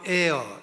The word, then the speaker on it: heir: 영어로 heir, H-E-I-R, 공기 A-I-R 하고 발음은 똑같고 의미는 달라요.